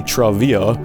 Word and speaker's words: Trivia: Legends of Trivia, which I didn't even know until recently is supposed to be Travia.